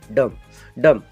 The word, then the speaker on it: dumb: Silent होता है, मतलब ना के बराबर, इसको प्रोनाउंस हम करते ही नहीं है, इसीलिए यहाँ पे क्या होगा? थम। DUMB, डम, क्योंकि यम के बाद में बी आया है